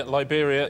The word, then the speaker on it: Liberia: points Richard Liberia yeah Liberia it rhymes with Siberia and it's also a